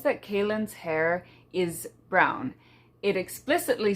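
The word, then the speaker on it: Kahlan: her name is pronounced Kaylin, but for the longest time when I first read the series, I pronounced it Kalin, because that's how it's spelled.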